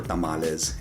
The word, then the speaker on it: tamal: one as in my tamales and so on so there you go tamal and tamale are both correct depending on the context instead of arguing every